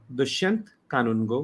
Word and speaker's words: Dushyant Kanungo: It's a bit tricky, It's Dushyant Kanungo. Dushyant. I know it is hard to pronounce even in India.